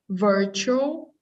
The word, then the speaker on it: virtual: massive virtual world massive virtual verb virtual virtual message jewel two syllables at the end virtual virtual there you go massive virtual world known